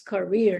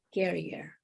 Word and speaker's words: career: Tap the button that says speaker or sound, and then you will hear it's career, not carrier.